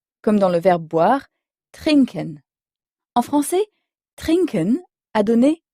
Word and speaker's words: trinken: trinken trinken à l'oral les mots allemands sont souvent accentués sur la première syllab ils peuvent être accentués sur d'autres syllabes mais généralement pas la dernière comme c'est le cas en français donc on dit trinken trinken c'est boire là l'allemand